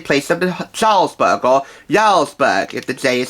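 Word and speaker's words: Jarlsberg: pre-spreaded cheese in place of the Charles burger yarlsberg if the day is silent with a bit of an accent there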